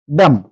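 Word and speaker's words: damn: হিম মানে হচ্ছে শস্ত্র ড্যাম ড্যাম টাকে আমরা যদি ড্যাম বলি সেক্ষেত্রে আমরা ভুল উচ্চারণ করবো কারণ এখানে এন টা সাইলেন্ট থাকবে কেন থাকবে যখন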